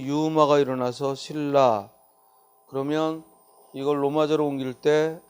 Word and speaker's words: 신라: 라는 거죠 그래서 신라를 로 멎어 로 옮기면 발음이 유마가 일어나서 신라 그러면 이걸 로마 조롱 일대 si 그리고 la